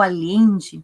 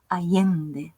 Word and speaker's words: Allende: A gente tem a tendência de fazer esses dois L's como um LH, Isabel Allende, não? A gente fala, mas a Isabel é chilena, então a pronúncia dela é Isabel Allende, algo assim, né?